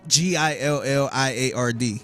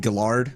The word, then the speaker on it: Gilliard: Gilliard. So they say Gillard? Gillard, Yeah. Gillard, and yeah. They never say, I'm like, it's like billiard. Yeah. When you think of billiard, Gilliard.